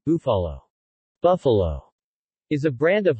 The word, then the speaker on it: Búfalo: Búfalo, Spanish pronunciation, Búfalo, Buffalo, is a brand of hot sauce and other condiments produced by Herdez Group, Grupo Herdez, of Lomas de Chapultepec, Mexico.